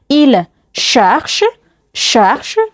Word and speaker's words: cherche: ለማወቅ ወይም practice ለማድረግ il cherche ብዙ ጊዜ ch ሲሆን ሺ የሚል ሳውንድ አለው ስለዚህ il cherche ይፈልጋል